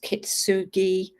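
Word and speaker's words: kintsugi: Japanese um art form I think it's pronounced kitsugi and it's where they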